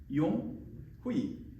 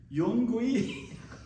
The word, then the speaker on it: Yonghui: 용후이 막 그렇게 하기도 하고 되게 힘드나 봐요. YONGHUI예요. 저의 영어 이름 뭐라고요? 용후이. 근데 제일 재밌었던 것 중에 여러 이름들이 있는데 한 번은 용구이 저기 보니까 YON 찍고 G랑 H는 묵음으로 하고